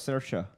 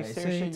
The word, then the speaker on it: Saoirse: Saoirse rhymes with inertia. That's how I learned it. I thought it was Saoirse.